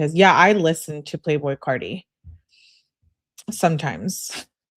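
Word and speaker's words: Playboi Carti: Yeah, I listen to Playboy Cardi sometimes. It's not Playboy Cuddy.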